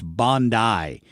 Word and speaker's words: Bondi: I was pronouncing it like Pam Bondi, but apparently in Australia it's Bondi.